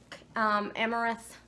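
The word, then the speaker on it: amaranth: and then we have organic amorous seeds I think that's how you say it am a ra n th seeds I haven't used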